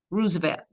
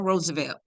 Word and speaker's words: Roosevelt: to 1947 mostly under President Rosevelt or Roosevelt however you want to pronounce it and however they pronounce it Rosevelt Franklin Rosevelt and